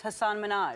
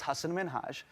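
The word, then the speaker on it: Hasan Minhaj: please because everyone that says your name says hassan minaj yeah but the real way you pronounce it and this is a big deal because my parents are here it's hassan minhaj and people always mispronounce it they're always like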